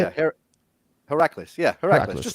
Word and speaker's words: Heracles: how you say it can you say it heracles yeah just like that good job yeah so